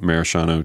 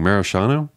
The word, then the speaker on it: maraschino: Maraschino? How do you say it? So this is, I don't know what that I read is. like a 7 page paper on the pronunciation of it because my mom always said like it was maraschino. Yeah, which sounds really wrong.